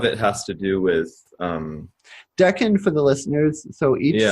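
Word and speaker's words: decan: I just looked it up because I was pronouncing it D Ken for the longest time isn't it it's Deccan is it duck n yeah there's there's an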